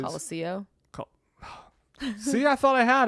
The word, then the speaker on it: Colosseo: It is Colosso, which is Colosseo.